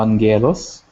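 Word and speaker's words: άγγελος: some people so uh angelos remember when you have the double gamma the first one is pronounced as an n so what does angelus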